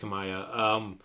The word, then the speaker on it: Kamiya: I mean, the main of the 2 is Kamiya. And honestly, he probably does more than the other dude. Maybe when you get right down to it. Yeah, no, it's pronounced Kamaya.